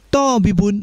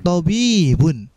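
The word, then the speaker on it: طَبِيبٌ: Jangan kita kemudian bacanya tabibun misalkan ya, atau kita pendekkan semua tabibun misalkan ya. Tapi kita lihat di situ, to-nya kita pendekkan, bi-nya kita panjangkan, tabibun.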